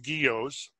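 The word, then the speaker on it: guyot: are when you guys g-u-y-o-t give us the definition geos the pronounced guillos a flat topped submarine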